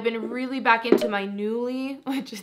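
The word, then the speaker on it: Nuuly: I've been really back into my Newly, which is, that's how you say it. I always called it Nully, I think, before, but it's Newly. Okay, anyway, if you guys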